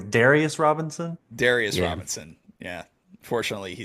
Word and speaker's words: Darius Robinson: It's Darius Robinson.